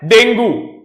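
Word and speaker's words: dengue: हम कैसे इसको प्रोनाउंस करते हैं, डेंगू, ऑलराइट, डेंगू डेंगू बोलते हैं, इट इज नॉट डेंगू, इट इज डेंगी, ठीक है।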